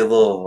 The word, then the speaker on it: Louisville: If you're from Louisville, you say Louisville.